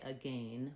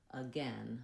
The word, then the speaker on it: again: We don't say again, we say again. So we have the or red tent vowel there. So one way to remember this, if you're trying to use the American pronunciation, is to think about the word then, or the phrase then again, because we have the same vowel in then as we do in again.